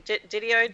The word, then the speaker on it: DiDio: Didio. Didio.